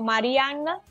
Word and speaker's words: Mariannah: preferencia, puede encontrarnos como Marianna, pero mi nombre se escribe con 2N y H al final.